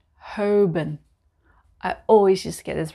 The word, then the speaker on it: Holborn: Number eight, Holborn. Holborn. I always just get this wrong. It's Holborn.